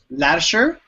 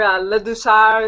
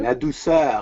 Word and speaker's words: Ladouceur: Ladouceur? No. Close, yeah. Ladouceur or Ladouceur if you want to say it French, Canadian. Ladouceur.